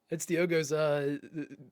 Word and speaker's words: Diogo: Floating out in space, that's Diogo's preferred environment, apparently. Oh, what a shot. It's Diogo, right? I thought it was Diego for a while, but it's Diogo.